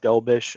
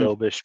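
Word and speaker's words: Dobeš: And if you're going to do that too, look at his backup, Dobish. I think that's how you say it, Jacob Mhm. Dobish.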